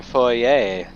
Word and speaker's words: foyer: the I love your cpacom theme in your Foye I place is it really supposed to be pronounced foyer and not foyer is that just